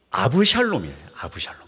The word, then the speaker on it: 압살롬: 샬롬이라는이 합성어가 바로 압살롬입니다 그래서 사실은 발음이 아부 샬롬이에요 근데 이제 우리나라로 번역하면서 압살롬이라고 하니까 의미를 잘 모를 수 있는데요 번역하면 그렇습니다 나의 아버지는